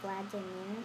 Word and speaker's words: Vladimir: So VL Vla with the A, so Vla, and then DIM Dim, and IR ear, so Vladimir.